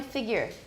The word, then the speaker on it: figure: the pronunciation of figure it is not figure it's not you it's an it's a schwa everyone figures figure we have the